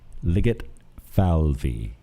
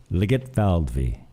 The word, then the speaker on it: Ligetfalvy: Ligetfalvy. Say it with me. Ligetfalvy. It's spelt, but